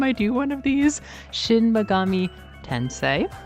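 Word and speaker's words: Shin Megami Tensei: Shinmagami Tensei, not Tensi, and the protagonist of Hollow Knight, which is uh kind of comical.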